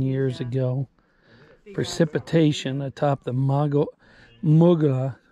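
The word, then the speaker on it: Mogollon: It says between 10,000 and 13,000 years ago, precipitation atop the Muga, it's pronounced, I know it looks like M-O-G-O-L-L-O-M, but it's pronounced Mugian rim began percolating down through 100 yards of rock, basalt flows, coconino, sandstone.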